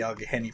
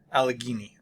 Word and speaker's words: Allegheny: Then we have the Allegheny Plateau and the St.